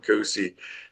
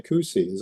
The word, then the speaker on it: Cusi: Yeah, so the project was in production, the Cusi. Am I pronouncing it right? Cusi, the Cusi mine?